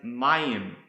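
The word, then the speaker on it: מים: which is used all throughout the scriptures is pronounced Mayim and it's the word for water or Waters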